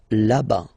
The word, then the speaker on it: là-bas: Remember final S not pronounced. Là-bas.